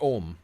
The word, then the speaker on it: Ogham: And then they have Ogham, or Om, depending on who you want to ask how it's pronounced, which are the Celtic, like their line runes, basically.